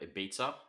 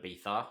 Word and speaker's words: Ibiza: It's I think the Americans call it Ibiza, and then Yeah. the Europeans call it Ibiza, and then I Yeah. think the British have got some sort of angriness over how you say it or something.